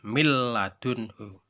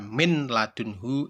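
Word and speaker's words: مِنْ لَدُنْهُ: Tidak kok dibaca milladunhu, itu salah. Yang benar adalah milladunhu. Atau ketika ada yang baca min ladunhu, itu juga salah.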